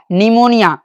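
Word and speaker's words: pneumonia: यहां ध्यान दीजिए, जैसे PNEMONIA, क्या हो गया, निमोनिया। क्या हो गया, निमोनिया।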